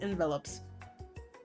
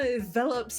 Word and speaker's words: envelops: That is how you say it. Envelopes. I lost aura points. I'm so sorry. The aroma envelops you, and you begin to feel warm and safe.